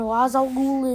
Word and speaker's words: Ra's al Ghul: But then in the Bale trilogy, he's pronounced Ra's al Ghul, and Ra's al Ghul is how he, should be pronounced, but I don't care.